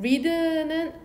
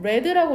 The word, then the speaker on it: read: 카드는 리드는 레드라고 읽어야겠죠. 여기서 레드 과거니까 주어가 단수인데도 s가 안 쓰여져 있잖아. 그러니까 얘 과거 형태라는 거.